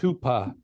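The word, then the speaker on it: hūpō: Oh, the closest thing is hupo. H long U P long O pronounced hoopa. It means stupid idiot or fool.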